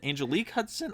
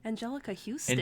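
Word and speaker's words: Anjelica Huston: And, it stars Raul Julia, Angelique Hudson. How the fuck do you pronounce her first name? Angelica Houston.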